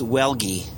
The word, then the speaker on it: Welge: bottom of things so pronounce welge it's like ghee like the clarified butter yep okay so there